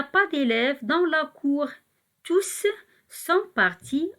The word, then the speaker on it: tous: Ici, on va écrire le mot tout avec un S, tous, et on va prononcer le S.